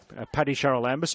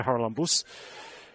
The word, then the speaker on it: Charalambous: The Ravens goal coming from former Spartan, I think she's a former Spartan, Paddy Charalambous, or to give it the authentic Greek pronunciation, Patricia Haralambous.